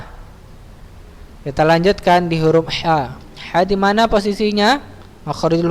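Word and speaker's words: ح: harus seperti itu ya Pengucapan ya jangan Ha jangan disamakan dengan huruf H besar ya jangan Antum baca ha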